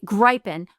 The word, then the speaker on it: Gripen: Because I've been to Sweden, and I think this is how they would say it from my experience in Stockholm with a long I.